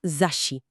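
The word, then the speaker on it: 雑誌: Y la palabra para revista, la que compras en el kiosco para leer, se pronuncia Zashi. Zashi.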